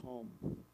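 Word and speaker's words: Thummim: the Thum and um the closest I'll try the best I can but what I got was it's more like or and Tom would be the more correct Hebrew pronunciation so this concludes the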